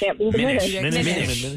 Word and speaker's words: Minish: Minish. Not finish. Well, Minish is fine. Minish. So, do people mispronounce that? I can't imagine they do. Are they saying Minish? But how do you think you gotta say, here comes sometimes the Minishes? They'll spell it with two N's, like fin, like. Yeah. Like finish. Yeah. Minish, finish. Minish.